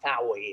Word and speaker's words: Fowey: So location on this one is Fowey Consols, and now there my English does not really. Fowie, it's Fowie consoles. It's pronounced. Yeah.